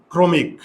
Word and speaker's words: ক্রমিক: উকার হবে এই যে এবার আবার প্রথমে যাই ক্রমিক করো তো এটার উচ্চারণটা কি হবে এইযে ইংরেজিতে দেখো ক্রমিক এইযে